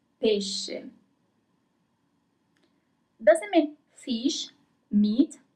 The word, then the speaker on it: pesce: Pesce. Pesce.